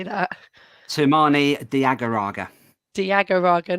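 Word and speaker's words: Toumani Diagouraga: what is the correct way to say that sumani diagaraga Diego Raga not funny I really wish he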